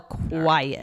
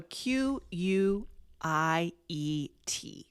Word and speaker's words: quiet: So, Q U I E T. Quiet, right? Yep. Yep. So, notice the E in the middle. Um, and yeah, pronounced two syllables with a stress on the first one.